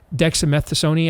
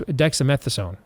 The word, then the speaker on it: dexamethasone: low dose of and I can never pronounce the dexamethason I think it's dexamethasone long story short after